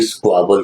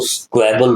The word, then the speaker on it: squabble: इसको भी स्क्वाबल कहते हैं। स्क्वाबल से याद आया, इन बच्चों ने गलती की, स्क्वाबल को स्क्वैबल बोला। इसका प्रोनाउंसिएशन स्क्वाबल होता है।